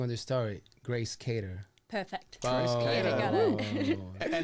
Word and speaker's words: Cater: I say it wrong on the story, Grace CATER.